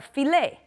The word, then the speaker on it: filet: is one of them other words that are like this are filet une filet une filet is a steak okay and again we don't pronounce the T also ballet do you